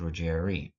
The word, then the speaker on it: Ruggiero: In France it was the custom to pronounce the name in general as Ruggieri.